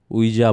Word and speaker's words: Ouija: It's pronounced Ouija board, by the way. Oh, it's Ouija. Ouija, apparently, right?